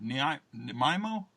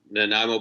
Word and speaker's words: Nanaimo: Nanaimo? Nanaimo bars. Nanaimo bars. That's Nanaimo, the deal breaker or deal maker right there. Yes, no, we've talked to the venue about that, and they assure us that Nanaimo bars will be free flowing.